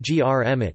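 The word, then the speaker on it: громить: common prefix po and the verb gromit, gromit pronounced grmit, meaning to destroy, to wreak havoc, to demolish violently.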